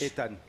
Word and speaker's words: Ethan: it's never count out Ethan Ean how you say in French Ean Ean Ean you don't you just don't pronounce the AG there's a three way